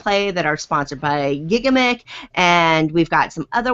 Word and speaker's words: Gigamic: France really right yeah it's it's gigamic it doesn't so literally their motto is it doesn't matter how you say it as long as you're having fun so um they I am told it's gigamic though we'll go with what